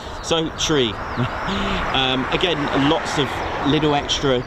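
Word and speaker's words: three: You'll also hear the number 3 pronounced as tree. All right, that again, and also number 9 as niner. Also 5 as fife.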